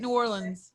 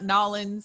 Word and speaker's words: New Orleans: stories about yeah about new orleans i know i don't say it right but no you do that's how i say it new orleans yeah that's how real people say it it's not nollens it's not new orleans it's not it's like